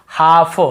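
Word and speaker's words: half: जैसे काफ, काफ काफ, हाफ हाफ, काफ हाफ, एल को यहाँ पे नहीं पढ़ना, काल्फ हाल्फ नहीं पढ़ना है।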